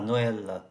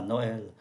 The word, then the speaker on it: Noël: Il y va aussi à Noël. Và Noël, ơ này là ô tréma. Chúng ta phải đổi tréma thì mới phát âm ra thành Noël được.